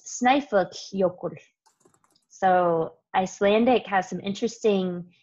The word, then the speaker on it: Snæfellsjökull: And this double L that you see is kind of interesting because you have to blow the air out between the sides of your teeth into the side of your mouth.